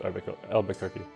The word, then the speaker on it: Albuquerque: So let's save Albuquerque. It's actually just Albuquerque. They are offering Michigan and Missouri. I'm trying my best not to pronounce it Missouri.